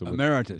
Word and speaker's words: Emeritus: Emeritus.